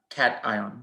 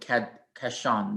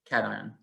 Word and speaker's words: cation: the carbo cat uh cation they can't even pronounce it cash on yeah cation i don't know why to do it that way cat ion carbocation is